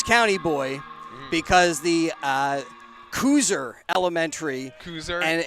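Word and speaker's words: Kuser: something like that but k-u-s-e-r right that was yeah yeah I apologize to koozer Elementary yeah for pronouncing them cuser as Jolly takes a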